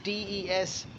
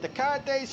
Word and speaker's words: Descartes: Pronunciation, he had Descartes.